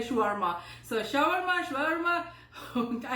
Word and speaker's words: shawarma: country you are from india pakistan they say shawarma in if you go to the arabic place in arabic pronunciation they say shwarma so shower mash verma